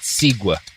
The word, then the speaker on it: segue: That was a interesting segue. I'll give you that. It's pronounced Sigua.